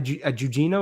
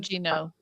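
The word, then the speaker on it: Gugino: Um a Jujino, is that what it was, Sandy? Is that what you said? Gujino. Guino. Gujino or Jujino?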